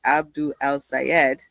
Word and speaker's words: Abdul El-Sayed: And the whole conversation about El-Sayed, excuse me, you corrected the way I pronounced the name, and so I'm just going to check in. It's Dr. Abdul El-Sayed. And let's say it properly. That's what I've heard is the pronunciation.